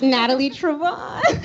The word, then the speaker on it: Natalie Trevone: And Nick, you always get my name wrong. Every year, it's Natalie Trevone. Trevone. Natalie Trevone.